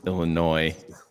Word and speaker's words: Illinois: one year one year it's like you and your Illinois it's Illinois one year you don't add that s just checking with the